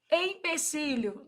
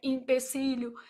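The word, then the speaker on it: empecilho: Empecílio, não é li, né? E também não é impecílio.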